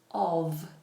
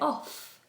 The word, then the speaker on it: of: to you about was when a V sound um, replaces an F. And this happens regularly with the word of. So, I'm actually drinking a cup of tea. Now, normally I would say if I said the word of individually and looked at the letters, I'd think, "Oh, it's O F." So, I'd say off. But off is a different word.